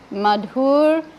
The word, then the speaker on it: Madhur: name is Madhur, not Madhurya, because that second name should have 2 syllables. So he wanted to be sure we're all getting it right. He said it's Sripad Bhakti Madhur Sagar Maharaj.